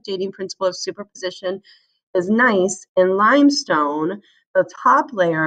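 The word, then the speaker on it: gneiss: the bottom is um nice i know it's spelled with a g but you pronounce it nice then coal then silt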